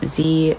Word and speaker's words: ze: They are pronounced Z, Zem, Zer. So Z rhymes with he, them rhymes with them, and their rhymes with their.